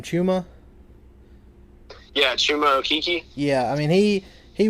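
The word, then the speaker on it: Chuma: Okeke how do you say his first name chumma yeah I mean he he was great for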